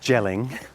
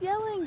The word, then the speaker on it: Jelling: here in the very well-kept Hedges of uh jelling jelling it's yelling dad what do you mean it's jelling it's pronounced it's got a on it but that's